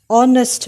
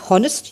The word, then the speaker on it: honest: example an honest man there is an h here h is a consonant but you are not pronouncing the h you are saying an honest man oh oh is